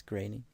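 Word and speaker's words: Groening: i think i know i always said groaning but apparently it's grainy i don't really care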